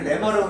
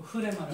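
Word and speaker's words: ῥῆμα: 원래 레마라고 읽어야 되는데 앞에 이제 히읗 발음이 나가지고. 아, 예. 그래서 흐레마. 아 그거를 예. 레마라고 안 읽고 흐레마라고.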